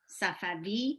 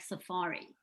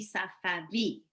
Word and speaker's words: Safavi: v instead so it's safavi but as you can imagine most americans pronounce it just like safari oh yes but it's really safavi and there's no other